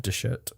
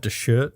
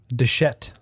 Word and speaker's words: Dechert: He donated $300 to Bob DeShirt, who was... Bob DeShit. Bob DeShirt. DeChert. D-E-C-H-E-R-T. DeShirt. Deschette. DeShirt. Except there's an R there.